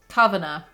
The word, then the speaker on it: Cavanagh: was an irish surname let's see how to pronounce it kavanagh apparently the world of catherine